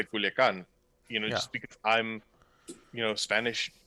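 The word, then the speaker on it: Culiacán: I'm not gonna say Hermosillo. I'm gonna say Hermosillo. Yeah. Or Culiacan. I'm gonna say Culiacan.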